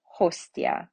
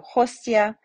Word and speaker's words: hostia: TI, when it's followed by a vowel, it is pronounced C, except when preceded by ST or X. So Letizia, Preziosa, Vitium, but Hostia. So Hostia, right, we have the T and the I separate.